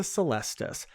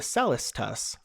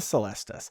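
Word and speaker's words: Celestus: at the end of 2021 and that's the celestis not pronounced the cellist tus like i used to say okay and i was corrected on stream so now i know it's the celestis it looks like a pumpkin and it's just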